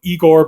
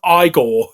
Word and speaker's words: Igor: Frankenstein he's frank enstein and you know and like he has the assistant you know igor but he's like no it's pronounced i goal you know they told